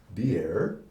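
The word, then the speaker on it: באר: The first is spelled approximately B-A-R and pronounced Beer, and this word means well.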